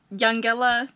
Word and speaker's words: Eungella: just pulled up to young gala damn we've been told that's how you say it i would have pronounced it as un gela but i'll put it